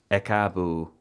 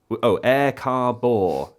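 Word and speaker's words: Ẹ káàbọ̀: Ekaabo, ekaabo, it's pronounced, without all the R's.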